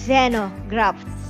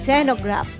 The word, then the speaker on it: xenograft: tawag nila diyan is Zeno graft Actually tiningnan pa natin kung paano pronunciation yan pero mas marami yung nagbabanggit ng Zeno kaysa sa zino Okay Zeno graft kumbaga sa tanim merong